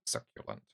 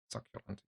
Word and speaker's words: succulent: consistency and yeah s oh it's like from pronunciation um I hope you're like sucul suculent succulent yeah so it's a suculant thank you demon